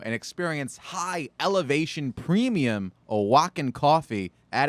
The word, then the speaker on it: Oaxaca: From Oaxaca. Are you impressed that I knew Is how that to how you pronounce pronounce that?